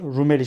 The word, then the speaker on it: Rumeli: Rum ilinin lisanı halinden yani Rumeli'nin Rum ili şeklinde yazılır. Rumeli şeklinde okunur.